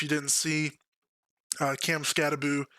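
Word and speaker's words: Skattebo: Um if you didn't see, uh Cam Scataboo, I don't know why you pronounce his name Scataboo. Uh there's not two O's. It should be Scatabo, but whatever.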